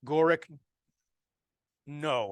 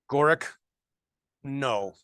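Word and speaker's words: Gorick Ng: it's like 10 bucks gorick no I think that's how you say it's Ng gorak no it is a very good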